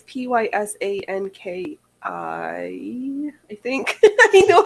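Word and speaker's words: Pysanky: Oh, Pazanki? pasankis. It's Pysanki.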